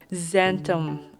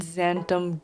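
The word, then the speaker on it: xanthan: I believe it was X gum. Zanum, I mean Zantom gum. My brain saw the alphabets X a N and was like, hm, there's only one thing I know that starts with that.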